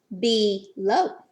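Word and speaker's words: below: it was in their be low Oh dub you can say Oh like snow it can also say a low like cow so be careful this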